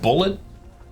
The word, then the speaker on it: Boulette: A mere 3-3 Boulette. I was told it was just pronounced bullet.